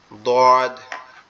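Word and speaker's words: ضاد: জিহ্বার গোড়া উপরের মাড়ির দাঁতের গোড়ার সঙ্গে লাগবে, এই জন্য এটা একটু কঠিন। কিভাবে লাগবে? দদ, দদ, গালটা একটু বেঁকে গিয়ে উচ্চারণ হবে দদ, দদ, দদ।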